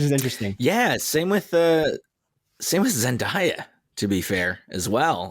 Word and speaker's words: Zendaya: Name pronunciation. We definitely have been saying Zendaya episode after episode. Yeah, it's Zendaya.